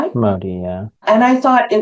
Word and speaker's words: MODY: Is that how you pronounce it? M O D Y. Modi.